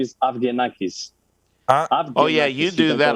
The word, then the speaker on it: Avgenakis: no problem uh my my last name is afghanistan oh yeah you do that a lot better